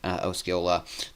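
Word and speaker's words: Osceola: with the European model in a place like osila there in Arkansas and apparently I am pronouncing that correctly um so I'm glad I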